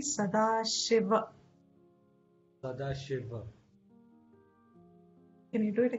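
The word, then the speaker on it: Sadāśiva: incomplete syllable it comes you say sadashiv in hindi it is okay but in sanskrit it'll be sadashiva sadashiva can you do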